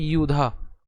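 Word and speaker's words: যুধা: এখানে আমরা উচ্চারণ করেছি কি ইউধা। আমরা বলেছিলাম যে অন্তস্থজয়ের উচ্চারণ কার মতো হয়? অন্ত্যেষ্টিয়র মতো হয় অথবা ইয়র মতো হয়, ইয়। তাহলে একে যদি উচ্চারণ করি ইউধা, অর্থাৎ যদি ভেঙে লিখি ইউধা।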